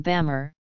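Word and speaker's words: ဗမာ: Burma is derived from Bamar, the colloquial form of the group's name. Depending on the register used, the pronunciation would be Bama or Myama.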